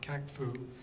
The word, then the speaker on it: CACFU: So a commercial activity in conjunction with farm use, or CACFU, as the acronym is pronounced, requires that the commercial activity be subordinate to the farm use.